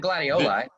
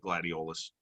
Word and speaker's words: gladiolus: octopus and octopi glady you said gladioli did my education get in the way i should have just should have just went with my gut and said gladiolus okay i pronounced it wrong they focus they focused